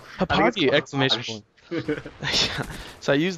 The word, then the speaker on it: Hauppauge: I just call it Hauppauge, but I think it's called Hauppauge!